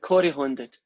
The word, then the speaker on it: corrie-handed: They're called Corrie-handed. Right, Corrie-handed. That's how you pronounce it.